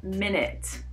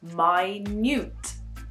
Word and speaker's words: minute: No, it's not minute. This is a homophone, and it's actually pronounced minute.